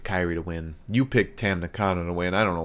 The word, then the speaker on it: Tam Nakano: Tam Nakano. That's how you pronounce it.